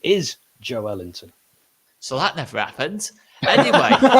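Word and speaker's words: Joelinton: name and they said in brazil you pronounce that the stress is on the middle of the word so actually the correct pronunciation is joe ellington so that never happens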